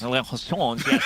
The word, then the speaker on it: liaisons: Dangerous, you can pronounce the word. Liaisons. Liaisons, yes, it's French.